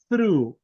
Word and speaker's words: through: pronunciation on this one you say through through through exactly exactly that you are through that is like like as if you are blowing some earth like through through there you are exactly nicely